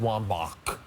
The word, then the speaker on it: Wambach: favorites Christine Sinclair three goals away from Abby Wambach it's pronounced Wambach by the way we were told that when